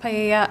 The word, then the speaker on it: paella: I'm not sure if that's how you pronounce it at the party. It's pronounced paella.